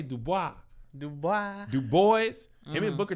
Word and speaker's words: Du Bois: Sometimes I be like, and I think I pronounce I never know if it's Dubois or Du Bois.